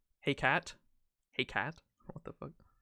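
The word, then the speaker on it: Hecate: up come with me in french it's pronounced the english word heck it hey cat hey cat what the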